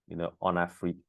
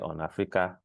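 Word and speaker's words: Onafriq: starting with the name, on Afrique. Sometimes people have a challenge pronouncing it. Is it on Africa, on Afro? But on Afrique is actually a very deliberate name.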